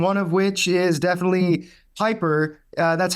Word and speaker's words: Pieper: of Texas and one of which is definitely Piper uh that's how you pronounce it correct it is the P the